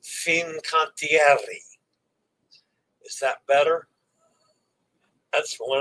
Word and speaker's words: Fincantieri: I heard from my coach, my pronunciation coach, and Dennis. It's Fincantieri.